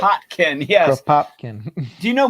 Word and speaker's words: Kropotkin: I was just about to say, except I was going to say Crop Topkin, and I know that's not how it's pronounced, but Kropotkin.